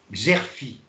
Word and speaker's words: Xerfi: C'est le site que vous connaissez tous, parce qu'il est formidable, c'est Xerfi. Alors, je le prononce, X-E-R-F-I.